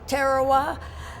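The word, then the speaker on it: Tarawa: And then uh our first uh trip uh island that we went to was Terawa. The the the British pronounce it Terowa, but I figure that we lost enough uh of our boys uh making the landing on that island. The the Americans can call it anything they want to.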